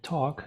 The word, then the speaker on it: talk: En este caso ahí ya es un poquito más complejo porque recuerden que en talk no se pronuncia la l, igual que en walk, ¿cierto?